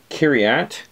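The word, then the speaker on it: Kiriath: So you have 7153, which is Kiriat, K-I-R. And the Hebrew, you don't pronounce the T-H as a th. It's just a T, which is city of.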